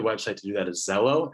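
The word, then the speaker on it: Xello: pathways a good website to do that is zello it's spelled x-e-l-l-o you can go on there it's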